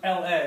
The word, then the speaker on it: ln: going to want to you're going to want to say l n of x to kind of say this thing right here that's important okay l n of x i kind